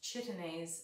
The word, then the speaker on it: chitinase: that are sucking insects it's an enzyme called chitinase it's pronounced chitinase and it is something that when plants when